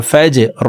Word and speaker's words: فجر: মাতলাইল ফা জিম জবর ফাজ র জির রি ফাজরি র কে ওয়াকফের ক্ষেত্রে সাকিন করে ফেলবো, তখন এইভাবে পড়তে হবে ফাজর হিয়া হাত্তা মাতলাইল ফাজর সালামুন হিয়া হাত্তা মাতলাইল ফাজর।